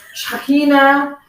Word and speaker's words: Shekinah: It's Shekinah, Shekinah. It's never Shekinah. I don't know. It's But Shekinah. Shekinah. Shekinah. And you like the. Yes. Yes, it's Hebrew. And so Hebrew is a guttural language, similar to Arabic.